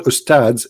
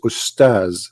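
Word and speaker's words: أستاذ: Even they don't know even how to say the word because the word Ustads is not correct in the way they say it. The word in Arabic is Ustaz, which means a master, teacher.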